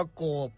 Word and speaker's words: โกบ: คำ ว่า โกบ ครับ โกบ เขียน สระ โอ ก ไก่ บ ใบ ไม้ รวม กัน แล้ว อ่าน ว่า โกบ ครับ โกบ มี อยู่